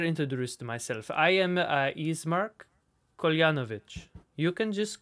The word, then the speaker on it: Ismark: name or the okay this guy's name is ismark i-s-m-a-r-k but he says eastmark and he's the son